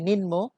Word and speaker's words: নিম্ন: যদিও আমরা শব্দটা অনেকেই ভুল উচ্চারণ করি নিম্ন, আসলে নিম্ন না, নিম্ন।